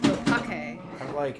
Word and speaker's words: opaque: That's how it's pronounced. Opake.